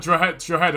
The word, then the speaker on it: Drogheda: Like, you don't actually pronounce, technically in Drogheda, you don't actually pronounce the G, it's like it's like Drogheda or something like that.